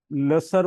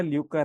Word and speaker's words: lucre: मैं इसको लसर बोलूं क्या बोलूं, तो देखा ल्यूकर है जिसका मतलब LUCRE, गलत तरीके से कमाया धन।